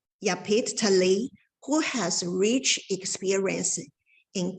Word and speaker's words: Yapit Tali: Pronunciation? Yapit Tali, who has rich experience in dealing with nature disasters.